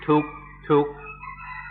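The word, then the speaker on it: ทุกข์: In Thai, there's no difficulty because in Thai they've used this word duka for centuries. In Thai, they pronounce it tuk tuk.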